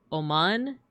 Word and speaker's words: Oman: When saying Oman, the emphasis should be on the second syllable. I see. Thank you. So, Oman.